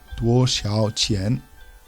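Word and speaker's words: 多少钱: So the first character is 多 in the first tone. 多. Then we have 少. Again, we see the down up tone over the A. 少. And the third word is 钱 with the rising inflection.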